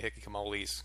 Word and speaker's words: hikikomori: Tokyo it has hikikomoris, or as a Japanese woman told me, hikikomoris, because the R is pronounced as an L, but she also said it a lot differently.